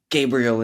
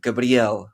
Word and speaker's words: Gabriel: and he was like why do you say your name Gabriel instead of Gabrielle like the Portuguese pronunciation I was like oh